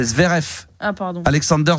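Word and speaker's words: Zverev: Alors le V se prononce F. C'est Zvf. Ah pardon. Alexander Zverf.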